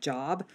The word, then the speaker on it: Job: It's spelled J-O-B, so it looks like Job, but it's Job.